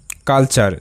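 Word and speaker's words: culture: পরবর্তী শব্দ ফ্যাকচার এফ এ C fact T ইউ আর ই চার ফ্যাক্ট চার ফ্যাকচার পরবর্তী শব্দ কালচার সি ইউ এল কাল টি ইউ আর ই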